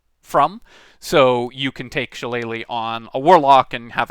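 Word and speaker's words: shillelagh: you don't take it shalele which uh as I've mentioned before is how you pronounce it uh or at least as close as I can come without a gaic accent shalele is a weird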